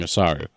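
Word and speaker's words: お猿: It's because they're really mispronouncing Osaru, which is just Japanese for monkey.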